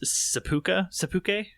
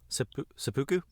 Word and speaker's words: seppuku: code or whatever, or of you know, this seppuku. What is seppuku?